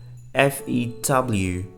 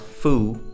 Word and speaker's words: few: FEW. FEW is not foo, it's few, okay?